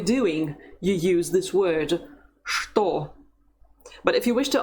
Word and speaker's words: что: As you see, there's a word that is not pronounced the way it's written. It's what. Что. Что. It's written with the letter ch at the beginning, but you don't say ch, you say sh.